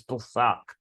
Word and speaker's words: Pesach: The Festival of Passover, that's Passover, Pesach, or Pesach, however you want to pronounce it. But I think the Hebrew way is Pesach. You got to kind of swallow it, the CH.